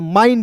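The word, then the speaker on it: mind: एम का म होता है और आई एन डी है तो इसका उच्चारण आइन के रूप में करेंगे, क्या हो गया दोस्तों, माइंड हो गया।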